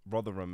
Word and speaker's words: Rotherham: not pin on a map of England where Rotherham is am I saying it right yeah okay